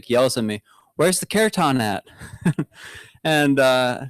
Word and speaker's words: kirtan: He's kind of yells at me, "Where's the kirtan at?" And I said, "What?" And he's like, "Where's the kirtan?" He called it kirtan or something, but he mispronounced it, kartan, something like that.